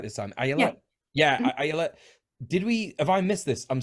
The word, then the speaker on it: Ayelet: Yeah, Ayala.